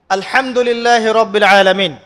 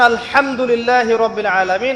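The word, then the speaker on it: الحمد لله رب العالمين: হা এর মাখরাজ কোথায় হায়ের মাখরাজ কোথায় বলেন একজন কণ্ঠনালীর মাঝখান থেকে এখান থেকে আপনি উচ্চারণ করছেন আলহামদুলিল্লাহি রাব্বিল আলামীন অর্থ দাঁড়াচ্ছে সমস্ত প্রশংসা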